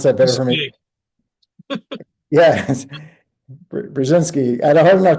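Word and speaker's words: Brzezinski: Cohen U binski uh bring you have to pronounce that better for me yes brzinsky I had a hard enough time with his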